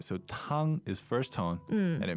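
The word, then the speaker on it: 汤: Tang, tang. That's the first tone, meaning soup. All right, so tang is first tone, and it means soup.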